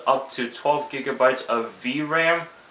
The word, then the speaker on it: VRAM: to 12 gigabytes of vram i believe that's how you pronounce it v-r-a-m it has a one